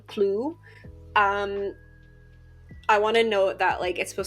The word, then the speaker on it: Chuu: I want to note that it's supposed to sound a bit more like crew. It just doesn't translate super well into English. It has to do with the pronunciation of the L and the R.